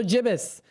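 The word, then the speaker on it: gibbous: So, Jibus, yes, the waxing Jibus moon provided the perfect lighting for a night of spooky storytelling around the campfire.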